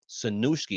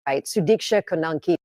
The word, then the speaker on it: Sudiksha Konanki: Her name is Sanushki, if I'm saying it right. I'm sorry, excuse, I'm saying it wrong. It's Sudiksha Konanki, 20 years old, University of Pittsburgh student.